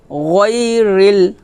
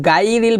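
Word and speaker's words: غَيْرِ: র লাম জের রিল গইরিল গই গইরিল এখানে কিন্তু গাইরিল বলা যাবে না বলতে হবে গই গইরিল মিম গন জবর মাগ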